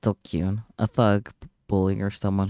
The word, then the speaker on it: DQN: Pronounced Dokyun, a thug, bully, or someone who's part of the dregs of society.